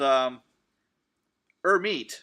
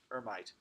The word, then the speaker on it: Hermite: is a different kind called her meat that's how it's pronounced or meat interpolation not hermite okay so in our